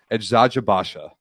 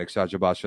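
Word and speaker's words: Eczacıbaşı: Edzajabasha is, I believe, how it's pronounced.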